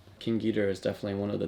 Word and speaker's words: King Ghidorah: you know King Ghidorah kind of closer to the Japanese pronunciation King Ghidorah is definitely one of